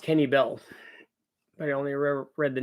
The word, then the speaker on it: Kenne Bell: It is pronounced Kenny Bell. I only read the name in magazines back in the day. Just never heard it spoken. Yeah. Kenny Bell.